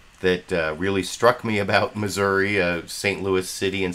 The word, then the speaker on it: Missouri: Senator Claire McCaskill from well it could be Missouri or Zhora depending on the way you like to pronounce it that actually you'll see